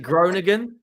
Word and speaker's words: Groningen: Groningen. Groningen. Groningen. All right, sweet. Like groin again. Like Tottenham's Groningen.